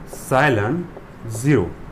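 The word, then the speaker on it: epsilon naught: ये जो एप्सिलॉन नॉट होता है इसको कैसे प्रोनाउंस करते हैं, एप्सिलॉन 0, ठीक है।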